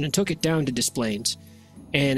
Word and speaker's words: Des Plaines: So in the town of Des Plaines, Illinois, it's spelled like Des Plaines.